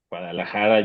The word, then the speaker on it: Guadalajara: And Guadalajara, Guadalajara, yes, that's correct.